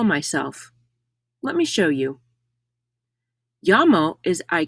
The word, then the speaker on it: llamo: own name me llamo notice that the double l in yamo is pronounced like ya double l in spanish does not make the l sound in english you will never hear me lamo mei doesn't translate to